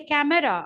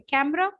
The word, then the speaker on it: camera: when I say C when I want to say c m r a i don't say camera I say camera why don't you bring